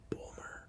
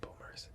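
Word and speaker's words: Böhmer: But his last name is spelled B-O with like two dots, the umlau over top. H-M-E-R, so like Ben Boomer or something like that.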